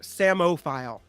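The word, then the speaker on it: psammophile: give you a hint Samo file Samo file s-a-m-o-p-h-i-l-e I'm sorry Nikki madoro you do not you do absolutely how do you spell it yeah oh that p is silent that damn key it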